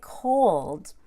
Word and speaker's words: cold: to be audible there when I say cold I do the O and then I add a W and a short u so that I have basically two syllables cold don't forget the W uld won't and smile on the L so that you can broaden your tongue cold number eight now this